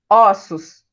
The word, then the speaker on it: ossos: Osso, eu pronuncio fechado. Aberto, ossos, no plural.